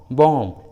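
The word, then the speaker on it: bomb: उसी तरह थम, टॉम, बॉम, लीम, देखिए सभी इंग्लिश वर्ड्स में लास्ट में बी है और उस लास्ट वाले बी के जस्ट पहले एम है, इसलिए सभी इंग्लिश वर्ड्स में बी साइलेंट है, बी को उच्चारण नहीं किया गया है।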